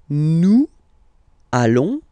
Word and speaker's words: allons: okay, and if you, so final S not pronounced, and then if you are purist, and I'm sure you are, you want to make this beautiful and little liaison, so this little link between the words, so it does mean